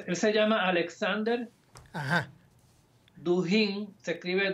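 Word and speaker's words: Dugin: Duhin. Se escribe D U G I N.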